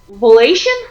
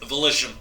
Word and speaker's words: Volition: the night of January 28th uh 2016 developers vation I hope I'm pronouncing that right volition volition okay did something remarkable and revealed a